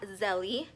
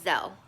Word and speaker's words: Zelle: It is not Zelle, which to me I think it sounds better, but it's called Zell.